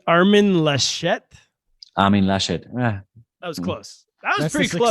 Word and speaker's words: Armin Laschet: What about am I pronouncing his name correctly? Armin Laschet? Armin Laschet.